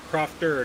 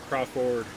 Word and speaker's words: Crofter: Or Crofter, not Crawford. Crofter.